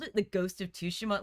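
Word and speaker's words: Tsushima: And I asked, "Is this like Ghost of Sushima 2?" And they had like a quick and hurried discussion. They were like, they're like, "It's pronounced Ghost of Tushima."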